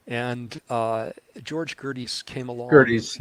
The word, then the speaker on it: Gerdes: Gerdes, yeah, I mispronounced his name earlier.